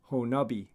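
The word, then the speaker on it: Honobia: annual bigfoot festival in honabaya oklahoma and apparently that is pronounced honubi so this is a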